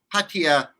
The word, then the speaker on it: Pattaya: Pattaya. Everybody says it a little different. Even the Thais say it a little different, but the Thais say Pattaya.